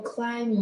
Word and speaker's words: climb: So for climb B is a silent letter.